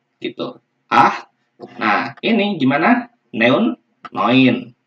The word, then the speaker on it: neun: Neun, noin. Bacanya noin ya. Kalau EU, nah, kalau EU kita ganti dengan OI. Ya, jadi kalau EU dibacanya OI, noin.